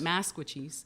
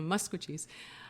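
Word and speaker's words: Maskwacis: letters you can mispronounce it like like people mispronounce musco Chiefs all the time they call it masquatchies yeah and it just grates on my ears as you know because it's not it's uh you know muscogee's so you know you hear like tensei Nito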